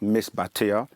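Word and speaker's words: Misbatiya: known by many names um the way we pronounce it in our langu in our tongue is miss batia that m i s b a t i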